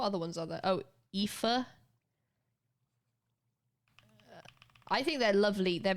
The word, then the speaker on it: Aoife: Which is pronounced like this. What other ones are there? Oh, Aoife. I think they're lovely. They're really pretty names, though. Aoife. It's like pronounced like Aoife.